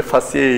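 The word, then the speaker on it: faciei: arteria transversa fasci denilen fasci okunuşu böyle fasciye yazılır, fasci diye okunur.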